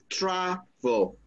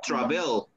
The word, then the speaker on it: travel: So, but where does the stress go? On the first syllable or on the second one, Lil? The first. The first one, because you say travel. Oh. You don't say travel. Mm-hmm. That is not the correct pronunciation.